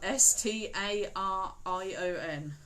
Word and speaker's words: Starion: Spelled Starion. Starion. Starion. Starion, like the horse.